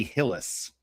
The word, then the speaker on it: Hillis: So yeah, that that chick's name is Ally Hillis. So rhymes with Bruce Willis.